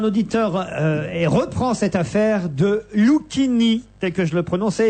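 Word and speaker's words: Luchini: le nom de Fabrice Lucchini, c'est-à-dire à la française, Lucchini, soit. Mais alors, ne devrait-on pas alors prononcer Lucchini, prononcer le CH comme chien? Ben non.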